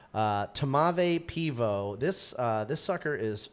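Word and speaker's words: tmavé pivo: It's it doesn't there's no vowel between it's two consonants first. It's t m a v e and then a peivo. Uh tamave pivo.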